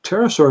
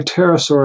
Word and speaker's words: pterosaur: flying creatures but generally pterosaur is hard to spell Pterodactylus also the PT and all the silent P but you know just